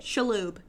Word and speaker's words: Shalhoub: shalhoub from monk that's how you say it shaloob anthony schlub karagor comes in to the school